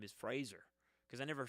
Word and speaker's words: Fraser: re-sang the song and pronounced his name correctly Fraser it's really been a hard time uh re um uh training my brain how to say his name correctly because I've known him since George of the Jungle and I've always called him Frazier and it feels like